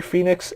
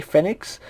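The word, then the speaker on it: Fénix: of him i know some people say ray fenix ray phoenix i think it's properly pronounced today fenix just because of the e but that's neither here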